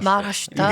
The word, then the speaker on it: Maharashtra: 네, 마라슈트라입니다. 마하라슈트라. 이게 진짜 원어민 발음이에요.